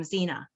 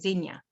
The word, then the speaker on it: Xenia: we ride to um xena is that how you say it xenia xenia yeah but we stay in